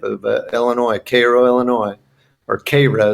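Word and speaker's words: Cairo: Illinois Koo Illinois or KRA as they pronounce it in the town and uh um uh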